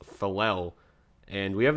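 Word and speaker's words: Faalele: road we got daniel i believe that's pronounced falel and we have not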